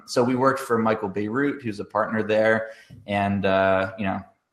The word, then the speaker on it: Bierut: It's spelled, it sounds like the city, but it's spelled Bierut.